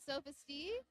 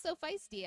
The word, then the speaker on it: So Feisty: stay in front of Sophistee. I think I've been pronouncing this name wrong. It's so feisty, I think.